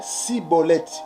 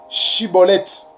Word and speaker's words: Schibboleth: bien prononcer le mot Shiboleth. Mais par contre, des Éphraïmites, ils avaient des difficultés pour prononcer le mot Shiboleth. Et ils prononçaient Siboleth.